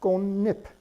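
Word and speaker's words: 꽃잎: And over here, this is the word for the leaf of a flower, and this is pronounced gonip. Here, the chiut, the ch letter, represents an N sound.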